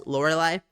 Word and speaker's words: Lorelei: because at this point I believe the accepted pronunciation is laureli and then if you're Japanese the pronunciation has